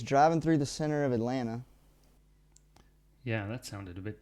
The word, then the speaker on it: Atlanta: I would pronounce it Atlanta. Atlanta. I would say. And maybe they would say Atlanta, something like this.